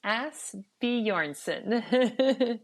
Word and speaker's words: Asbjornsen: Asbjornsen. Did I say that right? You were close. Asbjornsen. Okay. How do you say it again? Asbjornsen. Asbjornsen. All right, good.